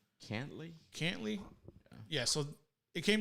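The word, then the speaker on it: Cantlay: was how do you say his last name cantley cantley yeah so it came down to a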